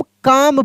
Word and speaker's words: calm: ना तो इसको हम काम पढ़ेंगे। क्या पढ़ेंगे? काम, काम पढ़ेंगे। अब यहाँ पे देखिए एल कहाँ गया? तो एल मेरे भाई साइलेंट हो गया।